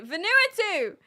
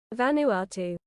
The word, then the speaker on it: Vanuatu: We can't start stream until you pronounce it properly. Venuatu. Vanuatu.